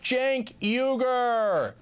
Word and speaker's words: Cenk Uygur: It's pronounced Cenk Uygur.